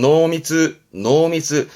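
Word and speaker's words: 濃密: 발음은 노미츠. 농밀하다라는 건 맛이나 색이 진한 걸 말하기도 하는데 뭔가 밀도가 높다라든가 아주 가까운 관계, 뭐 농밀한 관계다 그러면 뭔가 친한 아주 가까운 관계 말할 때 노미츠 씁니다.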